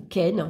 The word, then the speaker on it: Kenaz: Et puis on a Kenaz, ou Ken, moi je le prononce Ken.